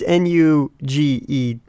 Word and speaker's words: NuGet: It's Nuget. So not like the candy. Like nougat without a second G. Oh. Yeah. So it's not like the candy bar or actually nougat I think is spelled N-O-U. Yeah. G-A-T. So it's completely spelled differently, but it's NuGet as in N-U get.